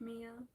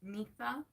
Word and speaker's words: Mifa: Also, if you like this video, I also hope y'all realize that you don't pronounce my name like Mia. It's mifa, mifa, as in me, fa. It's really no pronunciation close to Mia.